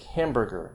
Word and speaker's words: hamburger: pizza and banana you can have stress on the third syllable from the end minus three stress like hamburger barbecue i think i was